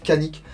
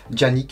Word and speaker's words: Canik: turc ça se prononce Janik, Yannick, mais je vais utiliser la prononciation française, le C et un A, ça fait K, donc pour moi ça sera Canik, désolé pour les puristes.